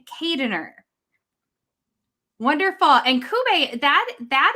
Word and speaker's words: Keijdener: get that one wrong too so ruth kubay kadener wonderful and kube that that is uh filipino